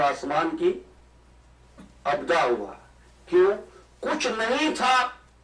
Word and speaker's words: ابداع: وقت کے، بغیر پروسیس کے بنے اس کو ابداع کہتے ہیں. بس تھوڑا سا میرا ساتھ دے دیجیے. ابداع کہتے ہیں، میں اسپیلنگ کر دیتا ہوں، الف بے دال الف عین، ابداع.